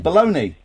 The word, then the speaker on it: bologna: an American D dictionary in America it's pronounced baloney that's how they spell